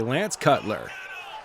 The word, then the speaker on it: Lance Cutler: She pronounced it wrong. It's actually Lance Cutler.